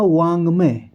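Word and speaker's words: वाङ्मय: अंग तो यह जो ये बीच में व के बाद जो यहां पर आपको दिखाई दे रहा है यह अक्षर अंग इसको नहीं बोला जाता अंग ही बोला जाता है है ना तो इसका उच्चारण हुआ वांगम जो पहला ऑप्शन है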